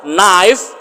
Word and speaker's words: knife: taqaano ruug waa loo yaqaanaa ereyga xiga 32aadna knife knife knife waa midi knife midi waa u